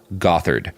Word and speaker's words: Gothard: They are followers of a guy named Bill Gothard. It's spelled got hard, and that'll be relevant in an unfortunate way later.